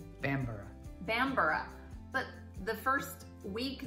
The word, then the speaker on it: Bamburgh: trying to Reserve and she said Bamburgh I'm like ooh note to self it's just like Edinburgh when it's a burg with an H I'm and don't say